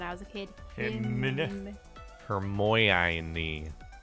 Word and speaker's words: Hermione: That's how I used to always pronounce them when I was a kid. Hymn. Hermione. Hermy one.